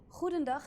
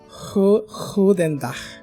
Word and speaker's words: Goedendag: Goedendag. Goedendag. It's like saying who did that.